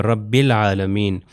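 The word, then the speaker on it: رب العالمين: उसी में से है कि ये अलिफ जो है प्रोनाउंस नहीं होगा। रब्बुल आलमीन।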